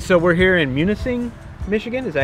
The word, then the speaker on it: Munising: All right, so we're here in Munising, Michigan.